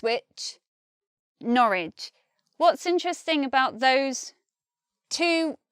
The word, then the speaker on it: Norwich: here we've got Ridge they're spelt the same but one came comes out with the sound and one comes out with the sound it's which Norwich spelt the same sound different another thing is lit